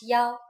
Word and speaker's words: 幺: When we talk about numbers like telephone numbers, bus numbers, and so on, we pronounce 1 as yao.